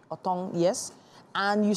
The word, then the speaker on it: otong: this one more time when this is please pronounce this that is otong otong yes and you said it is dried burnt